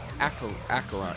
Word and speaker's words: Acheron: In case you were wondering, Acheron is pronounced Acheron.